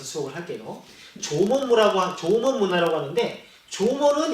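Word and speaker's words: 縄文: 조먼 문화라고 하는데 조먼은 일본어 발음이에요. 이 조먼을 우리말 한자 그대로 읽으면 뭐라고 하냐면 승문이에요. 승문을 일본어로 읽으면 조먼이에요.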